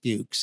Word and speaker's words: Fuchs: All right, I'm sorry, but that's Fuchs, and this is bad on him because that's how you pronounce that.